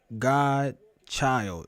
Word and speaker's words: GDChyld: It is pronounced Godchild. Like God, child. That's how I pronounce it.